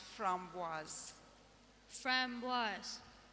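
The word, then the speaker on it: framboise: repeat that from baz yes it's a French word so it's pronounced from was FR was f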